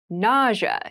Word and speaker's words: nausea: rash nausea nausea n NAA is a very interesting word with an interesting spell spelling nausea is the pronunciation nausea refers to a